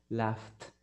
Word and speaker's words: laughed: Si usted dice, por ejemplo, laugh, que es reír, laugh, no tiene vibración. Entonces, laughed.